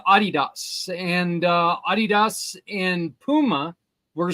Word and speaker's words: Adidas: Adidas is my son's favorite shoe company. Aha. Even though it's not Adidas, it's Adidas. But Oh, okay. I didn't know that. yeah, it's actually pronounced Adidas.